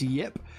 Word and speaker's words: Ip Man: uh yip man films i think it's written ip ip but it's pronounced yip never seen uh any